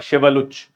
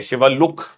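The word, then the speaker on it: Shiveluch: ठीक है, तो यहां पर आप देख सकते हैं शिवलुच, ठीक है, शिवलुक, ठीक है, डिपेंडिंग अपॉन द प्रोनाउंसिएशन।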